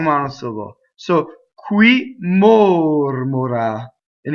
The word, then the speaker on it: mora: solo so qui more Mora and the accent is on the anti penultimate right Mora Mora and it's a closed though in a stress position you know shooting away